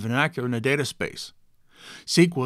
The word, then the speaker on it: SQL: SQL is pronounced SQL, not SQL. We don't say S-C-U-B-A, we say SCUBA.